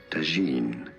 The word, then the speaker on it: tagine: brands Deuce yep in English however it is usually pronounced as tagine foreign